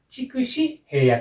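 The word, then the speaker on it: 筑紫平野: これはね、筑紫平野と読みますね。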